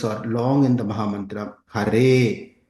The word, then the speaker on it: Hare: Thus, the following syllables are long in the Mahamantra: Hare, long vowel, a, Krishna, short vowel, r, but ensued by two consonants, sh, nya.